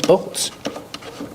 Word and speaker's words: bolts: Use the long O plus the dark L.